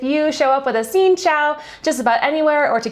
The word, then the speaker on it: xin chào: And also what's helpful is knowing Xin Chao, Xin Chao. And this one's a lot tougher because from our understanding, the pronunciation of this is different in both the